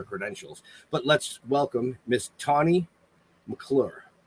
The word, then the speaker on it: Tane McClure: But let's welcome Miss Tane McClure. Did I say it right? You did say it right, Tane. Yes.